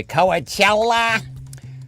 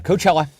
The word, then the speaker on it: Coachella: for your Coachella scent Coachella noticed it's not pronounced in The Bugs Bunny wa coella uh Coachella maybe I'll bring out